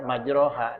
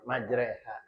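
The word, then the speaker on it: مجراها: misalnya ee apa ee majreha ya harusnya ya majroha dibaca majreha ya karena alifnya ee fathahnya dimiringin ke kasrah imalah namanya.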